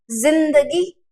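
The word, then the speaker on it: ज़िंदगी: जिंदगी, अगर मैं इसका उच्चारण करूं तो क्या बनेगा? जिंदगी। लेकिन एक्चुअल में आप उर्दू फारसी में देखेंगे तो इसका उच्चारण क्या है? सही उच्चारण जिंदगी, जिंदगी।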